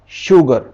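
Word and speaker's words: sugar: देगा चीन की एस यू जी ए आर शुगर शोर एस ह आई सी तो जहां जहां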